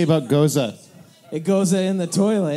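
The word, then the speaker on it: Gose: flavors hey dave what do we say about goza it goes in the toilet that's right it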